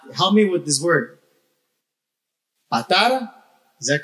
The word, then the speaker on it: Patara: me with this word, Patara, is that correct? Yes? Patara, because there's an accent on the A, but sometimes I forget how to pronounce it. Patara, ¿ok?